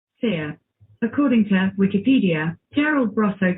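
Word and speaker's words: Scire: So, Seer, she said. It's spelled S-C-I-R-E.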